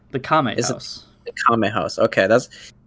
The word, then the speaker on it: Kame House: How do you pronounce Master Roshi's house? The name? The Kame House.